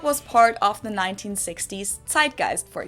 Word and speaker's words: Zeitgeist: Americans usually say Zeitgeist. In German, we pronounce it Zeitgeist.